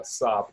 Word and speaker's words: Saab: And I was like, hey, man, how do you pronounce that car name? He was like, Saab.